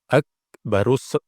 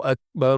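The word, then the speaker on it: أكبر: malah diberi Qalqalah ya jangan diberi qalqala ada yang membaca Qalqalah Allahu Akbar Allahu Akbar Allahu Akbar Allahu Akbar Akbar ya keliru ya kan jadi huruf Kaf itu tidak memiliki sifat tidak memiliki sifat Qalqalah jangan diberi pantulan jangan diberi pantulan berikutnya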